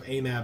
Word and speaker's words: AMAB: either is fine though most people I've heard say it alloud pronounces it as or pronounces it and aab like a word more than an acronym okay okay so amab and apab got it